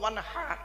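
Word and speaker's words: وانحر: ওয়ানহার, ওয়ানহার, এই গলার ভেতর থেকে হাইটা উচ্চারণ হবে, হাই ওটি, হাই হাওয়াজ নয়।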